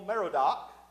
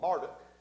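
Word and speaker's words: Merodach: died and his son evil meridoc remembers Abel uh uh martic is actually how his name is pronounced uh he had ascended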